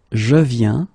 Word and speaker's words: viens: Okay, and phonetically it's the it's the same form. So you get je viens, okay, tu viens, il vient, elle vient.